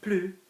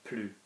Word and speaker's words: plus: Plus, in this negative sense, is going to be plus without the S pronounced, as opposed to more